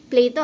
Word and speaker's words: Plato: Okay, this is Plato ha. This is how you pronounce it.